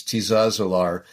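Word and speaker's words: Tiszaeszlár: The name of the town, I'm not pronouncing it exactly right, but it's Tizazalar.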